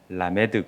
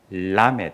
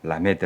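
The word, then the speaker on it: 라메드: 에드가 그래서 이렇게 으 라 메 드 그럼 안 되고 이 l 발음을 잘해야 되는데 람에 되요 이렇게 해야 되는데 이제 그냥 편의상 라 메 드 라고 읽고 발음이 률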